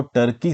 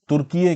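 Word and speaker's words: Türkiye: लोग बात करेंगे कि टर्की एज अ कंट्री अपने नाम को टर्की से तुर्कीये क्यों करवाना चाह रहा है। बेसिकली यहाँ पे प्रोनाउंसिएशन को और कुछ हद तक स्पेलिंग को बदला जा रहा है।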